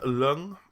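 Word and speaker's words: Ljung: Philip Lung, I believe the J is silent.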